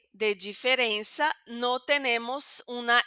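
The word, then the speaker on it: diferença: abrir esta e que van a decir diferenza, pero aquí en mi región San Paulo decimos diferencia. Ese e va a ser un poquito más cerrado, pero no será nasal.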